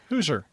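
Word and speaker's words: Hoosier: r how how do you say that yeah whoer whoer alrighty like our good friend Joan shear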